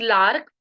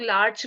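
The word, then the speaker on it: Larch: Next 19th medicine is लार्क। इसे लोग लार्च भी बोलते हैं, बट I pronounce it लार्क।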